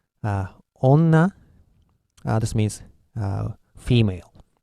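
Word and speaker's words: 女: If I were to pronounce onna, this means female. Ondo, this means temperature. So in these cases, these N are pronounced as N.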